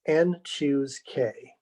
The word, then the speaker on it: n choose k: this strange beast here this is pronounced n choose k be the number of